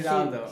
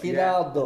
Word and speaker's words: Giraldo: why I'm here with the head sommelier, Giraldo. Did I pronounce that right? Almost right. Yeah. Just give me the right for the Giraldo. Giraldo. Giraldo.